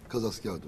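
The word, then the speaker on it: Kazasker: Kaz askerla kadı asker arasındaki fark hiçbir farkı yoktur. Aynı yani aynı aynı eee telaffuz farkıdır. Kadı askerin yani datla yazılır. O kısaltılmışıdır. Türkçe telaffuz daha uygun. Kaz askerdir.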